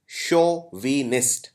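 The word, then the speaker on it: chauvin: का अगला शब्द है show विनिस सी एच ए यू को हम प्रोनाउंस करते हैं शो शोविन एक शब्द सुना होगा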